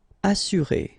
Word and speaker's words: assurer: Assurer, all right, you get two vowels here, but then double S, so it should be really strong.